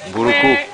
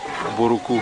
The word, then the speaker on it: Mbouroukou: Mbouroukou. Am I pronouncing it right? Mbouroukou.